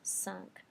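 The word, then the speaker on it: cinq: I would in English you're not generally going to hear this sunk um when you first learned your numbers hopefully somebody told you not to pronounce the the Q at the end of s if you've got something coming up um that has a consonant the same thing is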